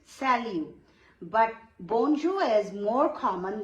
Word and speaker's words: salut: You can also say salut. T is silent, salut.